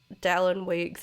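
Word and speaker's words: Dallon Weekes: And since that, there's been a little bit of drama of Dallin Weeks.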